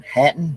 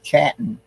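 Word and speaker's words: Chattan: they were part of Clan Hatton we'd say chatton but the sea is silent and um the farthest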